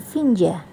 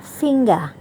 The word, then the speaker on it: finger: Seringkali itu kita dengar orang membacanya finja. Yang benar adalah finger.